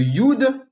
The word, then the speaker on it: Yod: veux que vous marquiez Yod. Y-O-D. Yod. Donc, entre Abraham et Sarah, vous marquez Yod. Y-O-D. Le Yod, ou le Yud, comme on le dirait dans une prononciation un peu plus correcte, le Yud, sa valeur